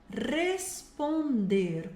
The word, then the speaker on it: responder: Compreender, compreender, responder.